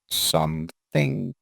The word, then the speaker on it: something: Something. And done. Please help everybody with the pronunciation of this TH. Yeah. Well, I put my tongue in between my teeth. Something. Thing. It's a soft.